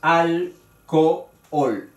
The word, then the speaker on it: alcohol: En esta palabra hay dos vocales, la misma vocal, la O, separada por la H. Pero la H, como es muda, se considera que las dos vocales están juntas en la palabra, suenan juntas en la palabra, pero evidentemente son un hiato porque son fuertes. Y ahí está alcohol, tres sílabas.